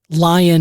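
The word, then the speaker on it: Lyon: Lion is spelled L Y O N.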